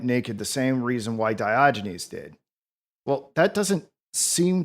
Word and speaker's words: Diogenes: Diogenes.